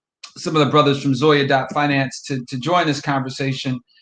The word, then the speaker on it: Zoya: um again sharia compliant and the answer is zoya dot finance and spell sure so zoya is spelled z-o-y-a dot finance and you know i